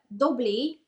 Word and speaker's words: Doblis: you have Clos uh dobly uh it's it's written like doblis but I'm pronouncing it bit in French you